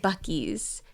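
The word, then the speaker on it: Buc-ee's: Oh, but it says Bussy's. I know on it's the thing. being silly, but no, it's Bucky's. That's how you pronounce it.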